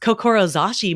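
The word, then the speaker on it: 志: is a Japanese word that means C is pronounced kokoro zashi which means the strength of your heart and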